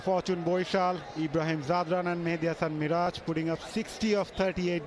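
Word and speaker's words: Mehidy Hasan Miraz: How do you pronounce that name? Is it Mahedi as well or Mehdi? No, that's Mehdi Hasan Miraj.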